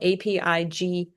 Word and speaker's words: Apigian: Amy Apigian, it's spelled Apig, IAN.